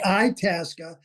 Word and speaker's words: Itasca: The correct pronunciation is Lake Itasca, is about the 47th parallel.